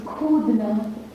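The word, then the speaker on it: कूदना: Then jump is Kudna.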